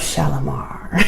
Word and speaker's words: Shalimar: in The Gardens of shalomar and you have to say it like that shalomar um there was a